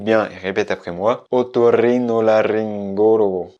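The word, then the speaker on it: otorrinolaringólogo: Tout simplement parce qu'il est intéressant, il y a pas mal de R à l'intérieur et j'ai trouvé que c'était un super exercice de prononciation. Donc écoute bien et répète après moi. Otorrinolaryngologo. Otorrinolaryngologo.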